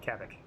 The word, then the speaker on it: Kavik: Cat like you're gonna say cat. Vac like you're gonna say vacuum. Kavik. It's distinctly 2 syllables.